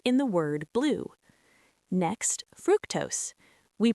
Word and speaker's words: fructose: Next, fructose. We pronounce it fructose with a short sound, similar to the word truck.